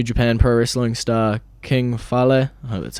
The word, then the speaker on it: Fale: defeated a new japan pro wrestling star king fale that's how you say it um and the